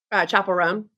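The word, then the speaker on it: Chappell Roan: really like viral with I'm gonna say her name wrong. Chapel Roan.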